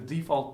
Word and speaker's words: default: So the default profile is just called default. Wait, I'm pronouncing it wrong. Default. Now it's default, isn't it?